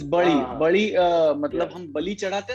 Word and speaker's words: बली: the pronunciation इ बड़ी इन मराठी दे देर अ alphabet वच इ प्रोनाउंसड एज ल सो द हिंदी डायलेक्ट और the Bengali dialect dozen necessarily have the raw pronunciation so इट्स बली बली मतलब हम बली चढ़ाते